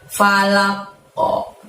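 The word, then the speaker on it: فلق: Nah, di sini falaq ini aslinya kan falaqi gitu ya. Birabbil falaqi. Tapi karena ujung ayat dan kita mewakofkannya atau menghentikan bacaan, maka falaqo di situ harus dimantulkan, terjadi qalqalah kubro.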